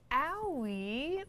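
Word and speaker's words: Aoi: introduced our second proto frame, and that's Owie.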